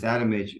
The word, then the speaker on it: Adamic: came across uh leis adamich pronounced adamic in America but I can't help myself so I call him adamic um and and I